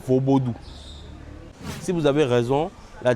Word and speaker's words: Vodoun: Donc la bonne prononciation dans la langue locale fond, c'est plutôt vaubodou.